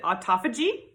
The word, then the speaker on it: autophagy: The pronunciation is in dispute, but I pronounce it autophagy.